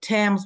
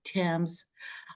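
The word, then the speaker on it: Thames: other way around like Tams we have th but it's t Tams uh Sherlock Holmes frequent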